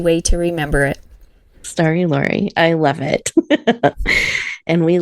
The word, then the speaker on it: Laurie: I uh my name is pronounced and it rhymes with Star. So, I I often joke around with Star. is an easy way to remember it. Star Lori.